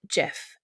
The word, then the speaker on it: GIF: there are plenty of gifs that pay tribute to their inventor perhaps even better you can heed his unequivocal advice and pronounce it jiff instead of gif that is friday's edition